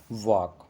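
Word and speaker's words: walk: वॉक, वॉक में देखो एल है लेकिन एल की साउंड नहीं है, इसमें भी एल साइलेंट है।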